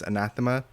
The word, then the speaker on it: anathema: first of all that it is pronounced as anathema and secondly that item is